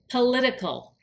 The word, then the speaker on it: political: is an agenda attached political if something is political it means there's an agenda attached notice how I pronounce political political political with that t sounds like a d if something is political